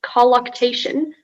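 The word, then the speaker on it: colluctation: striving or struggle as in the marathon runner's colloctation to raise money for leukemia research won the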